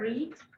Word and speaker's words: read: The verb read in present is read, and in past or past participle is pronounced as the color red.